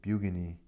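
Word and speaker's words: Burgoyne: Nutting had a famous foxhound named Burgoni. He pronounced it Bugony, which my informant used to borrow.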